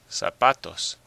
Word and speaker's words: zapatos: Zapatos. Well, you probably hear that the stress is on the pa.